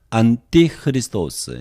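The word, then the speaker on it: ἀντίχριστος: nt 크라이스트 로 있겠습니다 안 띠 흐 리스 도어스 이것이 헬라어 발음입니다 이 적그리스도가 헬라 신약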